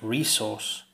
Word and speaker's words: resource: this word is pronounced resource different resources the stresses on the first syllable but in Australian English the stress is on the second syllable listen to her again